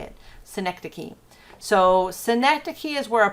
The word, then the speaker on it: synecdoche: And yeah, that's actually how you say that word, synecdoche. I know that's not what it looks like, but that's how you say it, synecdoche.